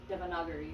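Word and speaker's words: Devanagari: Um, so if you're looking at actual Devonagari, uh, Devonaguri, yeah, Devonaguri is how you pronounce it.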